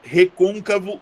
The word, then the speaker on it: recôncavo: Recôncavo é próparoxítona. Ó, recônvo. Olha onde é que tá a minha sílaba tônica. Tá bem aqui.